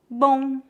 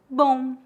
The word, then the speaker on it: bom: As letras OM em final de palavras pronunciam-se aproximadamente como as letras O, U, N, on, on. Veja alguns exemplos. Bom, som, garçom. Note que não tocamos os lábios para pronunciar o M.